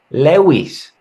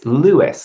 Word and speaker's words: Lewis: just Lewis but again in Spain people would normally say like leis and I'm like well I don't mind if you mispronounce my name um but it's lewiis like Le Hamilton you know easy yeah